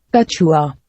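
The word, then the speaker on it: कछुआ: Kachua. Is there another translation of turtle? How's this pronounced? Kachua.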